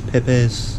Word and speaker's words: Pepes: make you can you tell me how you pronounce this peppers peppers mahi mahi mahi Mahi's the fish and